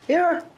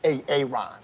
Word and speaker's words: Aaron: Aaron. Why didn't you say it the first time I said Aon? Because it's PRONOUNCED AARON.